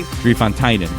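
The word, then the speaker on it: Drie Fonteinen: I actually replaced everywhere it said 3 instead of Dree. I was like, no, I'm gonna say it wrong if I don't write Dree, which I thought was dry.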